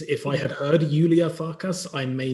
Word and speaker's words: Farcas: I had heard Iulia Farcas, I may not have spelt it the way it spells. Well, Iulia is Iulia, and Farcas, it's actually called Farcas. Ah, okay. It's Farcas.